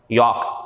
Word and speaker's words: yolk: यॉक एल नहीं पढ़ते, silent होता, यॉक ऊपर वाला भी यॉक है, ठीक है।